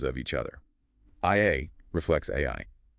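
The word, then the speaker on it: 愛: In Japanese, the kanji character for love is pronounced AI.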